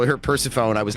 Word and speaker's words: Persephone: Last time you said Persephone, and I wasn't paying attention. It's Persephone.